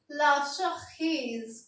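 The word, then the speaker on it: la cerise: तो चेरी को अगर हमें फ्रेंच में बोलना है तो हम बोलेंगे लाशखीज। क्या बोलेंगे? लाशखीज। इसकी स्पेलिंग होगी CERISE और प्रोनाउंसिएशन होगी इसकी LASEHREECE।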